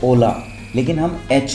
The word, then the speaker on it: hola: The H is silent. It is never pronounced. एच हमेशा silent रहता है और वो कभी भी नहीं बोला जाता। फॉर एग्जांपल हमारी जो ओला स्पेनिश क्लास है तो